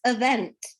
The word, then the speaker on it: event: It's event, because the E in the beginning is not E, it's a schwa, event, right?